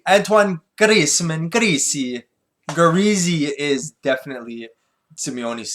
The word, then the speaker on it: Antoine: Luke Skywalker will be played by Antonio Griezmann.